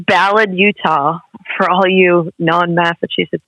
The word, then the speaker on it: Ballard: It's Ballard. It's Ballard, Utah. For all you non-Massachusetts people, Ballard.